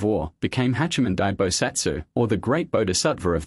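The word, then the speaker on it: 菩薩: the month a bodva or in Japanese pronunciation bosatsu was appointed each of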